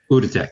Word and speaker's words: Outotec: Autotech, how do you pronounce it? Outotec.